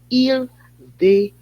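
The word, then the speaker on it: Il-D'Hayti: Il-DE-AITI.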